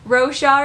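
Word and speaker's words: Roshar: we have a little bit different opinion in pronouncing the names of the story and the things so that's pretty funny so row char is the name of the world so do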